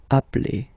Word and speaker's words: appelle: they are the same, then it does change the pronunciation of a. You tend to pronounce it like really open.